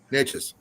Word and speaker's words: Neches: Netches, I'm not sure. Please correct me if I'm on the pronunciation of the river. Netches or Neches? Anxious. Neches. Okay. Yes.